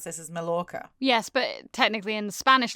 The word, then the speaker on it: Majorca: A lot of A lot of people call it Mallorca. Yeah, I mean, if you're spelling it phonetically, that is how you would say it.